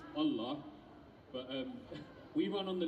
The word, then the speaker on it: Allah: It's pronounced Allah, but we run on the lunar calendar.